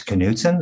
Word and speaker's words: Knudsen: to make sure he he knew how to pronounce my last name correctly it's it's Canen I like H yes it's it's uh you